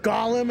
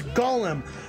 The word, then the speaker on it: golem: of these enemies it's like oh it's not pronounced gollum it's golem oh it's not pronounced wyvern it's wyvern it's